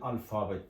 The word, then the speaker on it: Alphabet: artik de dır D alfabet neden alfabet diye okuduk Çünkü p ve h harfi f diye okunur bu iki harfin birleşmesi F olur Onun için alfabet dedik alfabet yani alfabe demek